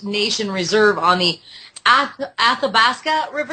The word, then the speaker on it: Athabasca: Fort McKay First Nation reserve on the a Athabasca River correct Al pronunciation than you Alberta for people that don't